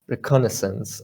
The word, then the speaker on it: reconnaissance: kind of hard well reconnaissance reconnaissance uh-huh okay yeah you pronounced it correctly okay or if you